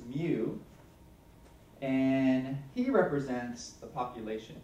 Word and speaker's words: mu: This cursive-looking M guy is pronounced mu, and he represents the population mean.